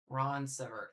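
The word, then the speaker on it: Ronceverte: Again, I wish I knew how to pronounce this one, but it's kind of where we're at at this point. Ron sever.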